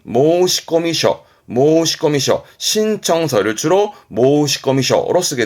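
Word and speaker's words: 申込書: 요렇게 쓰게 되면 여기서 나오는 것이라 발음은 모시꺼미셔 모시꺼미셔 신청서를 주로 모시꺼미셔로 쓰게 됩니다.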